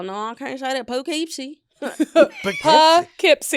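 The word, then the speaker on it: Poughkeepsie: So y'all saying it pipsy p I just the way it's on the way spelled the way it's spelled. Yeah. Like do but with a P. Yeah. It's like pookeepsy.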